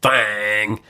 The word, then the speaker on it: Thang: Thang. Rhymes with thong. Actually, it doesn't. No. It should. It looks like thong. But it's not. If you changed a vowel. Thang.